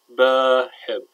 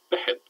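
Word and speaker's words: بحب: But it's not pronounced ba-hib. It's pronounced behib.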